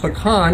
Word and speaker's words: pecan: It's the Algonquin Native American language, pecan. It's spelled a little bit differently, but we kept